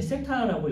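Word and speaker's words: θ: 4번은 이제 세타 값이 중심각의 각도가 이 2시간이라고 했으니까 30도가 되겠죠. 그래서 뭐 1번이네요. 세타의 크기는 15도가 아니라 30도다. 이 기호는 이제 세타라고 있고요.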